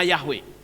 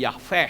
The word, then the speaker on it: Yahweh: WH tetapi yeha Hai sehingga pembacanya bukan lagi Yahweh tetapi aveh hai lalu Apakah itu benar